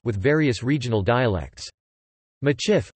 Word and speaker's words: Michif: Traditionally, the Métis spoke a mixed language called Machif with various regional dialects. Machif, a phonetic spelling of the Métis pronunciation of Métif, a variant of Métis, is also used as the name of the Métis people.